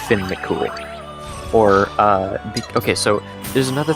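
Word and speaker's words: Fionn mac Cumhaill: say it exactly as it's spelled in English pronunciation, you would get Fionn McCumhale. Oh my gosh! But if That you're going sounds for horrible. a Gaelic pronunciation, then it's Finn McCool.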